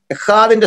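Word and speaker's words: אחד: ECHAD, അത് നമ്മൾ ഉച്ചരിക്കേണ്ടത് എഹാദ് എന്നാണ്, എഹാദ്. ഹായും കായും അല്ലാത്തൊരു ശബ്ദം പറഞ്ഞു എഹാദ് എന്ന് പറഞ്ഞു, എഹാദ്. വെറുതെ എഹാദ് എന്ന് പറയുന്നത് എച്ച് ഹാഡൻ്റ് ആണ്, അത് കട്ടി കൂട്ടി പറയണം, കാ സൈലൻ്റ് ആണ്, എഹാദ് എന്നൊരു പ്രയോഗമാണ്.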